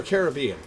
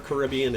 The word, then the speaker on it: Caribbean: somebody from the Caribbean is it Caribbean or Caribbean I have heard equally both pronunciations over the course of my life and I realize you can't say it out loud to me so say uh first for Caribbean and second for Caribbean I want to pronounce that correctly either or okay people aren't too fussed about it I got you Caribbean